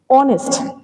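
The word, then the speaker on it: honest: এখানে দেখো this অনেস্ট, এইচটা তো কনসোনেন্ট আর ওটা হলো ভাওয়েল, কিন্তু কিন্তু যখন আমি ওয়ার্ডটা বলছি তখন এইচ হয়ে যাচ্ছে সাইলেন্ট, এইচ হয়ে গেল সাইলেন্ট, সাউন্ড চলে আসলো ওয়ের, অনেস্ট।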